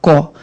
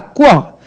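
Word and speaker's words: quota: E aí acontece, não há como você escrever QO e ler cota. Não tem, não existe isso aí. Você não vai falar có, vai falar quó.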